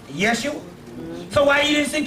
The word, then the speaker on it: Yeshua: First of all, the word Jesus, when you say it's Jeshua, well, hell, people can pronounce Yeshua, because there's no J in the Hebrew language. Right. People can pronounce Yeshua.